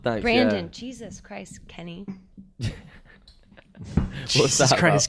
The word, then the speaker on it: Brandon: blames brand Brandon I just because it's spelled Brendan to me no it's not it's spelled b r a n d o n we're talking about this